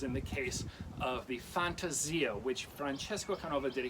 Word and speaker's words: Fantasia: are whimsical delightful and it is pronounced Fantasia and not Fantasia no matter what Disney might tell you this is fantasy anumber